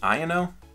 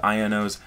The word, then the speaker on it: Iono: Iono? I don't know, it kind of sounds like Liono. But also if you say it like Iono, it kind of sounds like I'm just like saying I don't know.